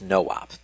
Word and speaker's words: NOP: have seen in passing, NOP, which stands for no operation, but is usually pronounced no-op, despite the mnemonic only having one O.